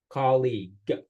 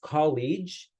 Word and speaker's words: colleague: this word colleague so it's pronounced with a hard G colleague like the normal Indonesian G actually G colleague if we pronounce it as College it sounds too similar with the word College which colleague and college means very different things colleague refers to the